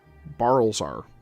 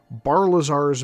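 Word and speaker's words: Barilzar: Now, my faithful and obedient service, let us discuss Bazar's Ballsar. I've been saying it wrong for 20 years. Barlazar's maze band.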